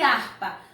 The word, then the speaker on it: harpa: Homem e harpa. Nós pronunciamos a letra H quando nós falamos homem e harpa? Não é mesmo? Porque o H no início de palavra não tem som.